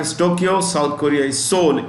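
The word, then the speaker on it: Seoul: Tokyo South Korea is soul s e o u l the E is silent in Soul okay India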